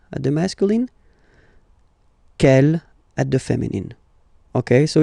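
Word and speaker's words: quelle: C l L, but it's pronounced like the masculine form. K at the masculine, kel at the feminine.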